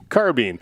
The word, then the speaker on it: carbine: some toes on this one that's okay okay pronunciation it's carbine okay in the united states it is carbene i don't know if there's some video games